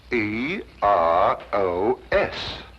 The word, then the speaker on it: Eros: influence of Cockney stagehands she added an H where there shouldn't have been one what then spell it as she spelled it but without the H e r o s precisely and here he is Cupid the Greek god Eros with his broken